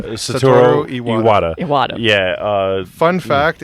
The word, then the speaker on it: Satoru Iwata: Satoru Iwata. Iwata. Yeah, Fun fact, it's really hard to mess up Japanese words because it's a phonetic language. yeah. You just read it how it's spelled.